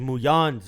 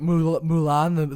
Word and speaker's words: Mulan: as bad as he's muyan's over here oh my god um and i'm saying that respectfully because he didn't say muan at all you're not even saying it right mulan the film about the